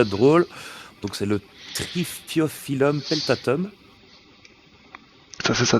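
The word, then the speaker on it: Triphyophyllum: Alors là, pour la pour la prononciation, ça va être drôle. Donc c'est le trifiophilum peltatum. Ça c'est ça trifiophilum.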